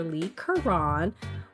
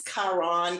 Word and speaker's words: Leigh Carron: And for this episode, I am joined by author Lee Kuran. Welcome to the podcast. Thank you. Glad to be here. And I did pronounce that right.